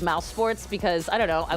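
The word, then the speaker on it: mousesports: I was on League I actually pronounced it Mouse eSports instead of mouse sports because I don't know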